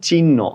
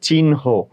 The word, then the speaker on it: চিহ্ন: তাহলে দেখো, চিহ্ন, চিহ্ন আমরা উচ্চারণ করি চিহ্ন, অ্যাকচুয়ালি এটার উচ্চারণ হচ্ছে চিহ্ন।